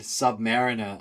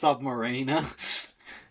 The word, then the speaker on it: Submariner: That's how I felt when you said submariner. I was like that's right. It's not pronounced submarina.